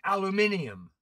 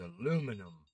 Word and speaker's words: aluminium: fiberglass fiberglass no or as the British say aluminium aluminium on oh he's not a Brit but aluminium is the univers it's aluminum next cinnamon yeah [ __